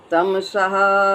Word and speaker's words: तमसः: उसके बाद, आधा 'सा' होता है, जो विसर्ग बन जाता है। आगे पढ़ने पर, इसे "तमासः परम उच्यते" पढ़ा जाएगा।